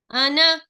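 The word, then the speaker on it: أنا: So because of that, in this one, we will not pronounce this alif. Okay. So how we will read this word? Hamza fatha'a, Noon fathana, Ana.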